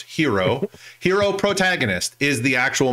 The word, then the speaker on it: Hiro: The main character is Hiro, pronounced hero.